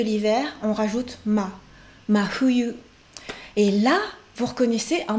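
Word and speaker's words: 冬: Fuyu, fuyu, deux syllabes aussi, fuyu. Donc vous m'entendez dire, je ne dis pas un franchement fuyu, je ne dis pas non plus fuyu, mais je dis entre F et H, fuyu, voilà.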